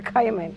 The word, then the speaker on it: caiman: Exactly what is a caiman? Well, we pronounce it as caiman.